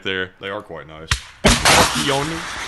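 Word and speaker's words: Pion: But the honest truth is why I used that joke is because the 2S7 peon is pronounced peon actually in English, and it refers to the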